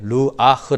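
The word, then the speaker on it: רוח: 에는 우리의 집 말은 영은 이렇게 루아흐 라고 발음하고 그 다음에 우리의 마음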